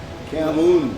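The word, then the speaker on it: cảm ơn: Yeah, cam, like cam, C-A-M, and then like O-N, but it's Camoon.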